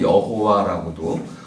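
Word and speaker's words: 야훼: 기독교의 신 이름은 야외입니다 한국에서 여호와라고 어떤 분은 여호와라고 발음하고 어떤 분 여호와라고 하는데 히브리식 발음은 야외입니다이 야는 고유 명세니까 그럼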